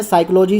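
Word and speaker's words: psychology: तो आपको पता है जो साइकोलॉजी वर्ड है, जैसे कि आप लोग सुन भी रहे हैं साइकोलॉजी साइकोलॉजी, तो साइकोलॉजी is start with S.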